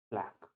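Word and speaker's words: plaque: That is known as प्लैक। Pronunciation पर नहीं जाना है, कुछ लोग इसको प्लैक बोलते हैं, कुछ लोग प्लाक बोलते हैं, that does not really matter.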